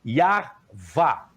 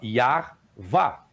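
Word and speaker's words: Yahweh: Encontra-se listas de nomes egípcios com a forma Yarvá, que essa seria a pronúncia correta do tetagrama, Yarvá, que é idêntico ao tetagrama.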